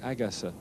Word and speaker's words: Agassi: Andre Agassi, you'll hear the chair umpire saying his name something like Agassi. The normal way that Agassi is pronounced in Korean to a foreign ear anyway is exactly the same word as woman.